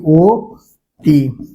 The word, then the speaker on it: অতি: এই অতি শব্দটার ক্ষেত্রে অ এর পরে কি রস্বই রয়েছে। তো রস্বই থাকলে কি হবে, সেই অ এর উচ্চারণ ও এর মতো হয়ে যাবে। তো তার কারণে এটার উচ্চারণ কি, ও তি।